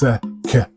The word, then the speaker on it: Sekhem: So Sekhem is 3 syllables. Sekhem.